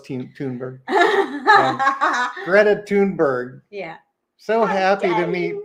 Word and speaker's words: Thunberg: join the here here's Greta thunberg tber not thunberg it's it's t I know but it's pronounced oh it's tberg Greta tunberg yeah so happy to meet pop Francis yeah